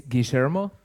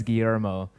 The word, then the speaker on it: Guillermo: It's Guillermo if you are in Argentina, otherwise Guillermo if you're anywhere else.